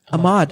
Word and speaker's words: Ahmad: How do you guys pronounce your names properly? Is it Ahmed? Am I saying it right? Ahmad.